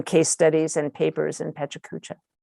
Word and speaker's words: pecha kucha: it chuck cha but i know it's a japanese word that's been adopted into english and it's find whatever